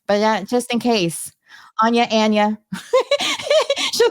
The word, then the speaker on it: Ana: what is your correct name my name is Anna an it happens to me every single day